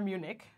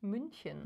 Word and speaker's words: München: Hello from München, or Munich. How would you pronounce it with the umlaut again? München. München.